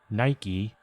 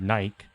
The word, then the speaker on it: Nike: it's like anything like nike could be said nike but they say it's nike i mean i think